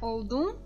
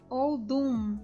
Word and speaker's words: oldum: do final do oldum, que não é oldum, é oldum, juntando os lábios, oldum.